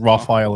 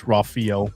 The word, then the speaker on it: Rafael: first name Rafael Sant it's not Rafael it's Rafel Rafael Rafael santz how